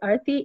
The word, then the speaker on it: Arathi: Sure, it's spelled Arathi, but it's actually Arthi, A-R-A-T-H-I, last name Ravi, R-A-V-I.